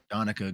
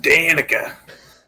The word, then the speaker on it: Donica: Name escapes me for the moment, but Donica Greysteel. there you go. Pronounced Danica. God damn it, Greysteel. My bad.